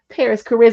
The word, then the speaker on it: Parris Chariz: go this is Paris Paris Charis am I saying it right I'm saying it right because I I double check right thank you you said no you said it right the first time praise God Super Lucky